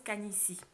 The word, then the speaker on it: canitie: canisy ça s'écrit ca/aines ide et ça se prononce kahn ici donc la can ici c'est le phénomène du